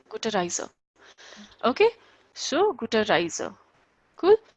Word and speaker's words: Gute Reise: Guter Reise. Guter Reise. Yeah, Gute Reise.